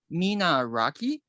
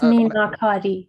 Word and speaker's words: Minakari: think she was showing me, forgive me, I pronounce it incorrectly. I think it's called Minaraki. It's basically the Persian, it's called enamel, right? It's like that's Minakari.